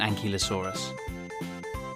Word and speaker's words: ankylosaurus: you say that again an key low saw russ how big was an ankylosaurus it was as long